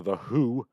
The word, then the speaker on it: The Hu: the gentleman of mongolia the who which i've discovered is in fact the proper pronunciation they have released a